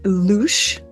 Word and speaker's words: louche: How do I pronounce it? Well, it's louche or the ouzo effect.